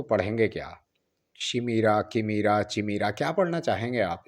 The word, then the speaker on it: chimera: को प्रोनाउंस कैसे करेंगे तो यह पढ़ा जाता है कामरा काय मरा काय मरा कामरा जो है यह ग्रीक